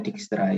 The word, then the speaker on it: Dijkstra: Dibacanya Dijkstra ya, J dibaca Y kalau orang Belanda ya. Kecuali kalau DJ dibaca J.